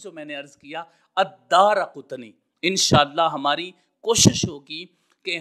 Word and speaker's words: الدارقطنی: کی قبر کے پاس ہے۔ تو یہ تھا تلفظ جو میں نے عرض کیا الدارقطنی۔ انشاءاللہ ہماری کوشش ہوگی کہ ہم اس کو جان لینے کے بعد آج کے بعد ہم اس کو دارقطنی پڑھیں گے جو محدثین کرام نے اس کا